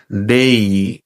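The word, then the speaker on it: day: আমরা প্রচলিতভাবে বা ছোটবেলা থেকে প্রায় ৯৮% মানুষই এই শব্দটাকে ডে উচ্চারণ করে থাকি।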